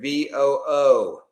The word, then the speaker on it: VOO: So let's go to rhymes with VOO. We'll call it Woo. Now we'll call it VOO.